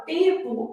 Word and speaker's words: tempo: Na palavra tempo, esse M é só nasal. Então, ao representar, vou representar assim, ó, tempo. Eu tenho 5 letras e 4 fonemas, beleza?